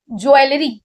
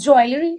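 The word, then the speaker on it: jewellery: नाउ ज्वेलरी इट्स नॉट ज्वेलरी इट्स ज्वेलरी what is that it's ज्वेलरी ज्वेलरी आई am going to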